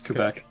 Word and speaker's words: Quebec: home province of, I'm going to chance the pronunciation of Quebec. Yes, Quebec.